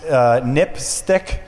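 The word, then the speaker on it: NPSTC: There are some recommendations by the National Public Safety Telecommunications Commission, which is pronounced NIPSTIC, which is kind of an odd acronym name.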